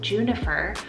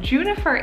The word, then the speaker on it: Junifer: So she actually combined the name June and Jennifer to make Junifer. But guys, this one totally sounds like the name Juniper, like the juniper berry, the nature name.